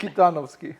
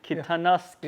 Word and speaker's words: Kitanovski: Kitanovski. Kitanovski. Yeah, that's the most Macedonian pronunciation I can do.